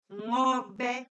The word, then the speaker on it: Ngobe: Ngobe. Now, you do notice that there's an apostrophe here and the N is silent, and I promise you, we'll be talking about all that.